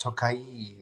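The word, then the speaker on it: Tokaji: Yes, we have a few neighbors who are Hungarian, and they told me it's pronounced Tokai.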